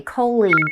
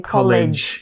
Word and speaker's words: colleague: Colleague. I've heard people saying college.